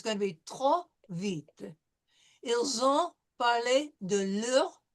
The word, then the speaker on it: vite: So, and with the vite, we won't pronounce the E. It will be silent. Sure. Elle a parlé trop vite.